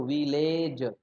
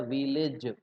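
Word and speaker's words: village: आप लोग इसको क्या बोलते हो? विलेज, ये गलत है, इसका उच्चारण होता है विलेज। समझ गए? ये ए ई का साउंड दे रहा है दोस्तों, तो ये करेक्ट प्रोनाउंसिएशन होना की आदत बहुत जरूरी है।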